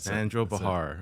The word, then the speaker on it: Sandro Pehar: Sandro Bahar is that your names how you pronounce it Sandro Bahar all right cool man welcome to the Apple